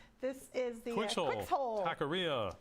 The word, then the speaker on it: Taqueria: Taqueria. Taqueria. Is that how you say it? Yes. Taqueria.